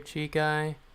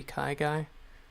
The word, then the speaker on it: Kai: Oh, everybody says Chai guy or Chi guy or Shi guy, but it's actually Kai guy.